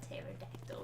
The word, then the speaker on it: pterodactyl: There's also pterodactyl is like spelled with a T, so it's like. Yeah, it's pterodactyl, you dumb fuck.